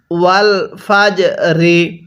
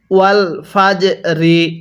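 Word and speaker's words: والفجر: ওয়াল ফাজরি ওয়াল ফাজরি এই জিমটা পড়ার সময় একটু ধাক্কা দিয়ে পড়তে হবে কারণ জিমটা হলো কলকলার হরফ আর কলকলার হরফ পাঁচটি কফ ত বা জিম ডাল এই পাঁচটি হরফ উচ্চারণের সময় একটু ধাক্কা দিয়েই পড়তে হয় তাহলে ওয়াল ফাজরি এরকম ভাবে শিখবো এরপরে ওয়ালাম জবর ওয়াল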